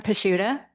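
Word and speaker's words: Pachuta: Pashuda. Could you spell that?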